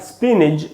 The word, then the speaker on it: spinach: पी में जो ई है उसी पर स्ट्रेस है, वहीं रुकना है थोड़ा, स्पिनिच।